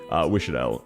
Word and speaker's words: Wishadel: That's very clearly Wishadel. Oh, what? I pronounced it right?